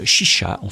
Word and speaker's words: Xixa: C'est Chicha. Il faut dire Chicha, je crois. Ça s'écrit X-I-X-A.